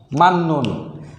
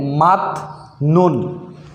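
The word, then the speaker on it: 맞는: তাহলে এটা সমাধান হলো মান নুন। আমরা যদি নিয়মটা না জানি তাহলে হবে মাত নুন, কারণ জিউত নিচে গেলে ত হয়, এটা আমরা আগেই জানি। তাহলে হতো মাত নুন। কিন্তু নিয়ম থাকার কারণে আমরা এখন শিখলাম মান নুন।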